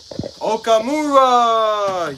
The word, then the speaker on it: Okamura: How do you pronounce his name? I am so sorry, man. Like, I am so bad. Gerald Okamura!